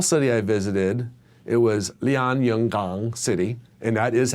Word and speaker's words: Lianyungang: The small city I visited, it was Lianyungang City, and that is how you say it. At least close. You practiced. I do. I said a lot of Lianyungang.